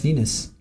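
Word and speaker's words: venous: It sound like they said Venus, but it's spelled V E N O U S. Venus.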